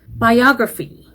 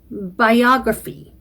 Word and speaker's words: biography: 발음도 그렇고 강세도 그렇고 biography.